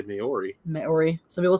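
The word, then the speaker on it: Māori: Polynesian languages, if you know things about them, you pronounce, and Maori as well, you pronounce every syllable.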